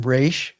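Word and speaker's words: ר: And then ra. And this is like the English letter R as in rain.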